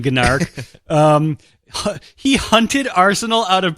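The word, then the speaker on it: Gnarrk: Gnark, which apparently is pronounced narc, but I'm going to keep saying Gnark.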